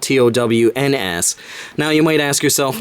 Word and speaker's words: Towns: of the word so they removed the E so it would just be pronounced town so it goes together